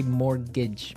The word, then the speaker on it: mortgage: It has a T in it, but you don't pronounce it. You say mortgage.